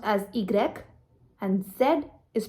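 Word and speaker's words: i grec: and x is pronounced as x y is pronounced as igrec and zed is pronounced as zed now saying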